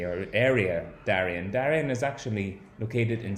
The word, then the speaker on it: Darién: started something called the darién scheme now as I say that's my english-speaking pronunciation of this place because it's not at all an english-speaking country originally our area Darrien Darrien is actually located